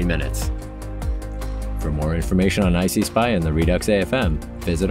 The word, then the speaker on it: ICSPI: And by the way, it's pronounced ICSPI.